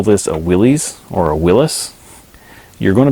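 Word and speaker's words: Willys: is it doesn't phonetically people don't say that word as Willis it's Willy's and since that's what everyone called the company the company just began calling themselves Willy's so even in their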